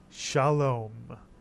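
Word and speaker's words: שלום: own new syllable so the first syllable of this word is simply sha now how about the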